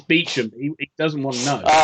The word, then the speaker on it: Beauchamp: It's Beecham.